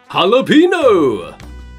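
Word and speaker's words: jalapeño: the Spanish language and in Spanish the letter J makes an H sound like this H but instead of changing the spelling we just remember how they say it in Spanish jalapeno oh okay there are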